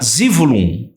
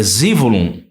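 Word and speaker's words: זבולון: Então, a palavra Zevulun tá Zivulun. É a pronúncia hebraica, é Zivulun.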